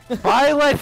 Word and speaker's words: Byleth: Yeah, Shovel Knight's basically Byleth in this game. Annoying? Yeah. Bad? Shouldn't have been included? Yeah! I guess arguably not. Blythe shouldn't have been. Byleth, you motherfricker, they say their name!